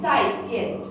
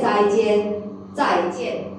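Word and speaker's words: 再见: Okay, 再见。 There is no neutral tone here. You need to pronounce the tone number 4. Okay, you say 再见。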